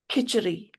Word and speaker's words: Khichdi: Khichdi.